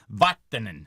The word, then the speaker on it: Vatanen: to say that correctly, that's a Finnish pronunciation because I know that there's still some Finns here in Quincy and around Massachusetts, so it's Vatanen, Sami Vatanen.